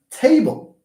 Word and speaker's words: table: on the first syllable see we have table t t and then b b is not stressed but T is stressed window do we